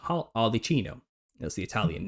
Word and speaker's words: Arlecchino: It's pronounced Arlecchino in Italian, and that's where we get Harlequin from.